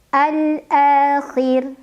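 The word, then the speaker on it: الآخر: Al-akhir, khir, ra-nya apabila berhenti disukunkan dan dibacanya tarqiq. Kenapa tarqiq? Karena huruf sebelumnya yang kha berbaris di bawah kasrah. Maka bacanya tipis, tidak perlu mengangkat pangkal lidah kita.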